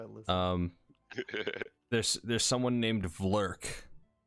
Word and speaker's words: Vlrc: There's someone named Vlurk. It's spelled VLRC.